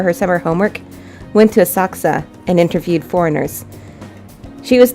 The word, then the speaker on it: Asakusa: success they mispronounced this in this game they pronounce it asakusa Asakusa in this game no one says that it's a success a merchant town based Sensoji temple famous for